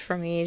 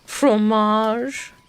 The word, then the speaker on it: fromage: It's not pronounced from me. Just pronounced fromage.